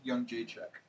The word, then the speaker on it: Jędrzejczyk: Were you meaning Joanna Jędrzejczyk, or how do you pronounce her name? Young Jacek. Like young Jacek as opposed to older Jacek?